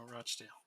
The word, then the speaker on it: Rochdale: I started at Dorking then went to Rockdale then Fiorentina for five or six years don't say their name wrong no Rochdale oh sorry just because they suck doesn't mean